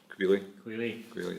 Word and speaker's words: Queally: you, but like, I don't know how to pronounce his name, so apologies if I get this wrong, but Queally, is it? Queally, yeah.